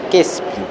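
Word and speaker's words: qispi: Eh, kispi se pronuncia quespi, o sea, vidrio. Aquí la i junto a a la Q desciende a la E.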